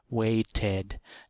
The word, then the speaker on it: waited: waited for the bus now we've added a syllable and so that's this third one you don't need to know the notation or whatever just listen to The Sounds we've added a syllable waight waight is one syllable and then we add another syllable waited now we have two syllables so for a word